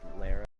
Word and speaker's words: Lara: Hey, you know it's actually pronounced Lara?